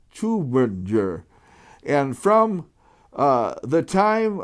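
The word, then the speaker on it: Tübingen: this you in german uber is a german word and the way you pronounce this city is like that you and uber uh is tubinger and from uh the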